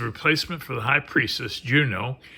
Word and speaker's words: Juno: for the high priestess Juno or junan if you don't want to say it with an English pronunciation okay next we have